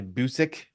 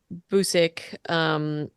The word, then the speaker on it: Busick: Anyway, written um, by Stephen Shields and Guy Busick. yeah. Busick, yep.